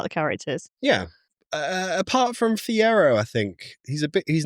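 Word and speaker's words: Fiyero: Well, I said his name wrong. Bach. Yeah. I cared about Fiero.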